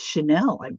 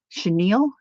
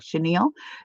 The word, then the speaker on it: chenille: okay look at this this is Chanel um I think right Chenille I said it wrong Chenille there's Teresa good morning